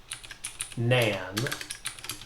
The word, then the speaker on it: NaN: double dot nan and that's usually pronounced nan and it just means not a number and the reason we're